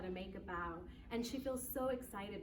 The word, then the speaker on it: bao: and that's actually pronounced even though it's spelled b-a-o it's pronounced bow like you bow what's neat about this